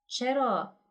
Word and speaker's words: eight: words why in this word "eight" we don't pronounce g,h? I don't get it, what should I do?